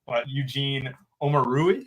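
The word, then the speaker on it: Eugene Omoruyi: They're in that like 4K range, like, you know, Eugene Omarui. Did I pronounce that right?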